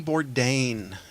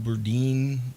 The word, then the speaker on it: Bourdain: you said how good I've been saying Bourdain Burdine just a bunch of different ones I'm like